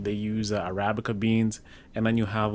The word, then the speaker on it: Arabica: How do you pronounce the Kenyan coffee? Is it Arabica, whatever coffee? Arabica. Arabica.